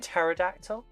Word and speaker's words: pterodactyl: that fatle fodal oh do you mean pterodactyl that's PT um but yeah so